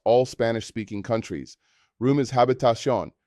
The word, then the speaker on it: habitación: Room is habitación, pronounced habitación. This is a longer word that requires practice. Break it down into syllables. Habitación. The stress falls on the final syllable, indicated by the accent mark.